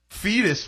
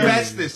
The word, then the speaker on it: Festus: Lone Cabbage, Fluffy Landing, Fetus, Florida. These Fetus? Fetus. Is it spelled like fetus? Yes, Fetus. That's I mean, crazy. Festus. I'm sorry.